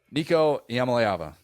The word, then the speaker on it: Iamaleava: Nico Iamaleava. Just pronounce it.